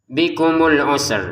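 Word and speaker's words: بكم العسر: Bikumul usr. Nah ini bikumul usr. Jadi perhatikan ada sin sukun ada ro yang dibaca sukun juga karena kita berhenti. Bikumul usr. Jadi begitu cara bacanya.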